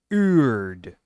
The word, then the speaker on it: Urd: time calling this character Uder, and I've only just now realized her name's not Uder, it's Urd. Not U-D-R, U-R-D.